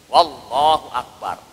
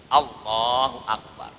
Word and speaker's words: Allahu Akbar: Jadi enggak boleh kita bacanya wallahu akbar. Wallahu akbar, enggak boleh. Enggak usah ada wawnya. Allah saja langsung. Allahu akbar.